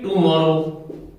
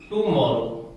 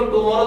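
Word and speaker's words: tomorrow: तो ध्यान दीजिए यहां पर इसको देखो टुमारो तो अपन बोलते हैं, इसका शुद्ध जो प्रोनाउंसिएशन वो निकलता है टमारो। इसको शुद्ध टमारो बोला जाता है।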